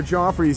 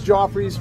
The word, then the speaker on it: Joffrey's: a good coffee which I'm thinking it's Joffrey's rhymes with coffees but yeah we're gonna